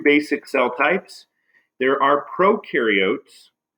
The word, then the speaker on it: prokaryotes: cell types there are prokaryotes remember pro rhymes with no these are unicellular organisms